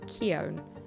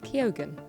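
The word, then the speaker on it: Keoghan: Barry kogen kogen kogen I've recently learned I was saying it wrong my whole life I thought it was Barry Keon and uh no kogen let's go with that one also for a lot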